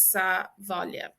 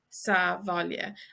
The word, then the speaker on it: sa bhaile: But in this instance, we have sa plus Baile equals sa bhaile. Sa bhaile. And this BH is pronounced like a V.